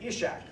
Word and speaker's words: Ishak: And again, linguistically, I don't know what you call that kind of I, but it's not E, it's pronounced I. So again, Ishak, all right?